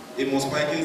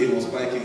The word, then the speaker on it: Amos Pikings: Amos Pikings, the tech prophet. Start following. If you're on Facebook, start following. That's the Amos Pikings. Nigeria will call it Amos Pikin, but the pronunciation is Amos Pikings.